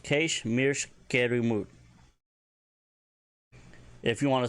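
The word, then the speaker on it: Kaysh mirsh kyramud: you want to say he's boring me senseless, Keish mirsh kiramut. Keish mirsh kiramut. And it's pretty self-explanatory. He's boring me senseless. And that is spelled Kaysh space mirsh space kyramud. And that is pronounced Keish mirsh kerimut.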